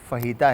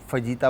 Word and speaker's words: fajita: मगर फिर भी सही वर्ड जो है वो फहीता है। आप फजीता बहुत सारे लोग बोलते हैं। इसमें कोई वो नहीं है क्योंकि पढ़ने में वो फजीता आ रहा होता है तो जे साइलेंट है। तो इसको फहीता पढ़ा जाता है।